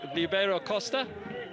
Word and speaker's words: Ribeiro Costa: But just to remind you, Ribeiro Costa, as is the Brazilian pronunciation of his name, scoring a penalty effectively after just 3 minutes.